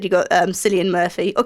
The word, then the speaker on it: Cillian: as well as i said you've got um cillian murphy or killian i'm not too sure how to say it